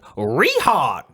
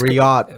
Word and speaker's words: Riyadh: pronounce uh well we we pronounced it rihan down here in texas but it's the is it out reality yeah it's riyadh riyad how do you say